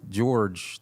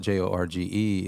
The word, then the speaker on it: Jorge: But, see, George, the way I spell it, J O R G E, is Jorge in Spanish.